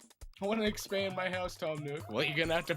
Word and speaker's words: Tom Nook: Oh yeah, I do have the actual pronunciation of that. It is Tom Nook. I'm surprised I didn't notice it when I looked up the name. Yeah. But it's just a pun. Tanuki, Tom Nook.